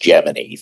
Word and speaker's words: Gemini: for purposes of NASA, it would be pronounced Gmany. That was the correct pronunciation.